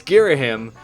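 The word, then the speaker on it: Ghirahim: And I know it's Girahim. And I have this thing where anytime I know I'm going to pronounce something, I could get it wrong.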